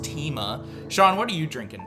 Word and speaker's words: Themea: And joining us is not only a familiar face, but also our co-host of our first season, Sean Themea. Just kidding, I know it's pronounced Tima.